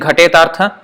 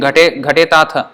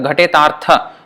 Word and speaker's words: ghatetartha: And Prabhupada, when he was saying ghatetartha, no, he was saying ghatetatha. No, it's not ghatetatha, ghatetartha.